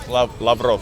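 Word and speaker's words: Lavrov: now he's interviewing lavaro did I say it right lavaro lavro yes Serge La so who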